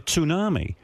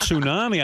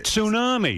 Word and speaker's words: tsunami: And I said to my wife, "You know, they're carrying on like they're expecting a tsunami." And she goes and she goes, she goes, "Tunami?" I go, "Yeah, tsunami."